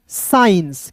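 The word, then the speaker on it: science: सी एस सी है तो यहां पे सी साइलेंट तो एस का दोस्तों 100 आई तो एस आई साई ई एन सी ई साइंस क्या पढ़ेंगे साइंस ठीक है मजा मजा आ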